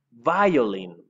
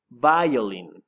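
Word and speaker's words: violin: que es el violín en inglés se escribe igual pero se pronuncia un poco distinto así que atención es by all in by all in aquí repeat 6 by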